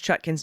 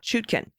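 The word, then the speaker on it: Chutkan: pronouns he and him a gentle correction judge chutkin's name is pronounced chutkin not chutken one more thing is that the co-owner of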